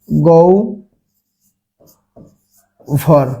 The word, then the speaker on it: গহ্বর: যদি আমরা দেখি অন্য অন্য উচ্চারণ দেখি, যদি গহ্বর দেখি, গহ্বর দেখি, এখন দেখেন এই গহ্বর শব্দের উচ্চারণের ক্ষেত্রে কি হ ব আছে, এখন হয় বয়ের আগে কি রয়েছে গ রয়েছে, এখন গয়ের সাথে কোনো কার নাই, তার মানে কি রয়েছে একটা অ রয়েছে, তাহলে এর উচ্চারণ কি ও এবং ভয়ের মতো। তাহলে এখানে কি হবে গৌ ভর, গৌভর।